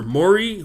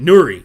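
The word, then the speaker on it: Nurys: good so we got Nelson and his partner Mori wait Nuri sorry I gotta pronounce it right this is a person that's never been on the show so I gotta make sure I pronounce her name correctly Nelson and Nuri Nelson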